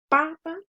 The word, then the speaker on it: papa: En la palabra papa es en la primera sílaba pa. Y en la palabra papá es en la última.